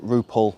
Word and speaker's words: Roupell: So, the Lambeath estate we're on was built by John Repel in the early 1800s. Some pronounce it rupal.